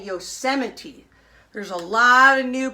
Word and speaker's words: Yosemite: famous Park called Yosemite it looks like Yosa might when it's written down but the way we pronounce it we pronounce it Yosemite so everybody say Yosemite there's a lot of